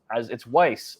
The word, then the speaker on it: Weiss: Our main man, Craig Weiss. And if those who were watching the last show, it's Weiss, like W-I-C-E instead of like rice.